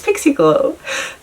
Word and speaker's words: Pixie Glow: Now I know it's Pixie Glow. And it rhymes.